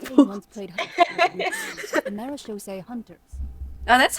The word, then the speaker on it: Marechaussee: once played the Marechaussee Hunters. Oh, that's how you pronounce it.